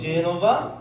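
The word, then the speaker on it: Genova: এফ এ কমে ফিরেন্সে, জি কমে জেনোভা, আচ্ছা আমি আবারও বলি, জি এর অরিজিনাল উচ্চারণ হচ্ছে গ, কিন্তু এই ক্ষেত্রে কেন জেনোভা হইলো গ না হইয়া, এটা আমরা শিখবো। কারণ জে এর পরে এ আসলে কি হয়? জে উচ্চারণ হয়।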